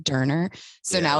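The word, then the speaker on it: döner: So every time I was like, oh, doner, he was like, it's actually pronounced Durner.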